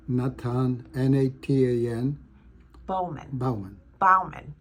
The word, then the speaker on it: Natan: Natan how do you say your first name Natan n-a-t-a-n Bowman Bowen Bowman Bowman and that's b-a-u-m-a-n